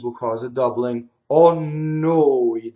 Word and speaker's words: noi: Oh no, it doesn't rhyme with boy. It rhymes with David Bowie.